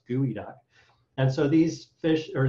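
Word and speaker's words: geoduck: called pacific gooey duck spelled g-e-o-d-u-c-k but are are pronounced gooey duck and so these fish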